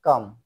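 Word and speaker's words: calm: কে silent এরপরে আসি এল কিছু কিছু ওয়ার্ড আছে যেখানে এল উচ্চারিত হয় না যেমন পি এল এম পাম হাতের চেত বা তালু সি এ এল এম এটা হয় কাম শান্ত অর্থাৎ এখানে এল টা উচ্চারিত হবে না অনেকেই এই ভুলটা করে যেমন কাম বলে সেটা ভুল উচ্চারিত হয় এরপরে তাহলে সঠিক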